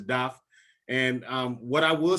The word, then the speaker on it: Daph: We're of Haitian descent, so I will say it properly. His name is Daph. Okay, so in Creole is Daph.